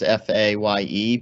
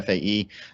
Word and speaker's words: FAE: I was told that you can pronounce it as FAYE, but it's really FAE.